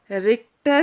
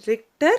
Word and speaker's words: Richter: with an instrument called richter scale it is richter scale h is silent here okay and people who